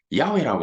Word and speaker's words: 야훼: 다른 말로 야훼라고 하니까 좀 더 정확한 발음으로 말을 하면은 야훼라고 하니까 영어로는 뭡니까 이렇게